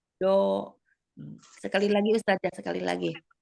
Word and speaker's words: ض: Ya, jadi kesalahan sering terjadi. Biasanya nanti itu kita akan mengubahnya dengan bunyi huruf dal. Biasanya itu. Kalau Umi mendekati huruf dal pengucapannya yang saya dengar. Do itu pakai ujung lidah ya. Dal itu menggunakan lidah ya. Jadi harusnya kita tidak dengan ujung lidah, tapi kita gunakan tepinya, gitu ya, tepinya. Do.